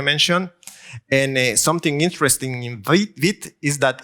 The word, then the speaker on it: Vite: And Vite, I hope I pronounce it French, because it's French, is French, and it was created and started by a guy called Evan Yu.